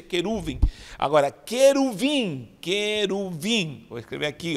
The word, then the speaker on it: querubim: Então, queruvim, e se pronuncia queruvim, não querubim.